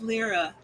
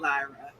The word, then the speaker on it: LRA: It's LRA, not Lyra.